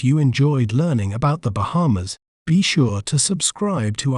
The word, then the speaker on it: Bahamas: may pronounce it as Bahamas Bahamas bar ha ma feel the little weight on mid syllable ha Bahamas so when we put it all together it's pronounced as Bahamas the Bahamas is rich